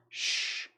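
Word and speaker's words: Ssssh: by 10 years after one of the toughest titles to pronounce cuz you literally have to go sh every time you say it that is $9.99 easy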